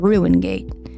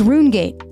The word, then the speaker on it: Rungate: Gate 24 said, "No, people just misspoke my name, so I changed it when they said Ru Gate." Oh, it's Rungate.